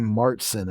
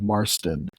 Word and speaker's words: Marsten: so many people want to pronounce my last name martson instead of marsten and I've always been